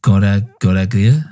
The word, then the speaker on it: Goraguer: So this Alain was Goraguer. How do you say it? Goraguer? That's him. Yeah. I thought it sounded a bit like the French version of Gallagher.